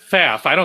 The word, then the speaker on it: Pfaff: Faff. I think the first P is silent.